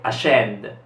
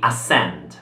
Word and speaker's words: ascend: Questa allora è ascend. La SC qui si pronuncia S, quindi ascend.